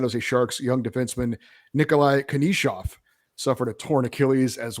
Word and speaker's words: Knyzhov: It's spelled Knyzhov, pronounced Konishov.